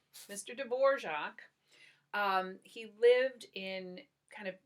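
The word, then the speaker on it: Dvořák: dvorak that's how you pronounce his name mr. dvorak he lived in kind of gypsy country so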